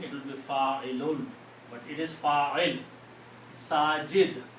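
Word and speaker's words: فاعلٌ: And on the third one, we put two dhammas or two pitch. So the sound will be Fa'ilun.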